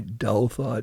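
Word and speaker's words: Douthat: the the New York Times columnist oped Ross Dalat D O U T H A Datot you pronounce it.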